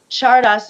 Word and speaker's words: Czardas: Yeah, that one is, I just learned it as a Hungarian gypsy Chardas, and Chardas is spelled Czardas, and it's characterized by